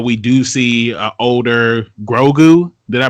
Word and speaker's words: Grogu: the future that we do see uh older grogu did i pronounce his name right yeah you got it